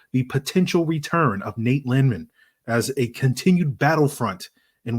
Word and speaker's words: Landman: It's pronounced Landman, free. Landman.